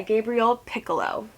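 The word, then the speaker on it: Gabriel Picolo: now Raven by kami Garcia and illustrated by Gabriel piccolo yes that's how you say his name I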